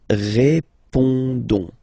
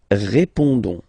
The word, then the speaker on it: répondons: Don't pronounce the final S. You only pronounce this on sound. So you get répondons. Nous répondons.